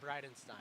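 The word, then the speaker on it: Breitenstein: it from recruit how do you say your last name correctly brightenstein brightenstein I didn't know it was BR or Bri brightenstein brightenstein backstroker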